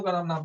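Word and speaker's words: Kena: इसके 2 उपनिषद का जिक्र आता है, दोनों का नाम लिख लो। छंदोगाय, छंदोगाय, छंदोगया, ठीक है, स्पेलिंग ध्यान दे।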